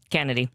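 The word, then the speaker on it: Canady: Uh you can watch Niger Nigeri Kennedy. Yeah. Did I say her name right? You did. Kennedy.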